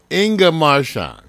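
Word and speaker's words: Inga Marchand: all right Foxy Brown ingga marshan I love her name that's why I always say it right Inga marshan Foxy Brown got into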